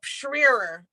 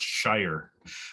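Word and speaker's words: Schrier: I I love sorry go ahead ebony oh schreer I think that's s-c-h-r-i-e-r I know she's she schooled me it's actually pronounced Shire but uh Habib I'd love to ask you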